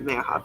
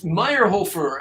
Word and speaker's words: Meyerhofer: Meyerhoff. And am I saying your last name right? It's Meyerhofer, actually. Meyerhofer.